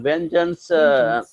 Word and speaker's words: vengeance: I believe Rahatali in vengeance E is silent. We don't pronounce after GE vengeance.